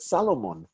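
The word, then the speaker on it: סלמון: Israelis do not call salmon, the fish salmon, S-A-L-M-O-N. They call it Salomon because they don't like having the L and the M come right up against each other without a vowel.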